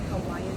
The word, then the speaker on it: Hawaii: And currently at Oahu in Hawaii. That's how they say it, Hawaiian people, Hawaii.